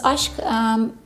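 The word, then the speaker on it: Aşk: This one is Ashk. By the way, in Fragrantica, it says Ask. It's not Ask, it's Ashk. It's pronounced as Ashk.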